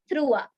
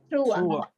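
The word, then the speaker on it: trois: the the next is three which is pronounced as througha througha you have to throw the r sound out and then you have to pronounce it througha so it's t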